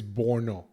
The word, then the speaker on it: Borno: is it Borno or Porno? I have to check this. Like, I cannot believe that this is true. Nah, I have to Google it. Nah. You say no. It's Borno, not porno.